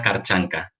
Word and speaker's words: Kharchanka: Hoy tengo el placer y me hace muchísima ilusión poder conversar, charlar y pasar un buen rato con Alena Karchanka.